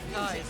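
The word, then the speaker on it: Kize: Whether you're into cookie dough, peanut butter chocolate chip, or the classic peanut butter, Kai's has a flavor to keep you energized throughout the event.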